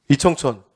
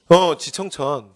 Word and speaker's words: 지청천: 이청천. 이쪽도 누구예요? 그러시면 안 돼요. 누구라고요? 지청천.